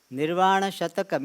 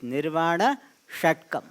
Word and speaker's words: Nirvana Shatkam: So, first of all, we don't pronounce as Nirvana Shatakam. It is Nirvana Shatkam.